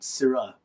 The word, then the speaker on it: Sirah: a variety called Petite Sirah. And Petite Sirah, Syrah sounds like Syrah as in Shiraz, but it's spelled S-I-R-A-H, not S-Y-R-A-H, as a point of